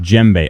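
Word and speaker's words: djembe: It's pronounced jbe.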